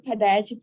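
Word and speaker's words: Padayachee: And I can pronounce Padayagi properly because I have one of the most beautiful daughters, her name is Padayagi.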